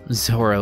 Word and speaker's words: Zoro: Zolo the other Zoro Japanese doesn't have an l sound wow I'm bringing up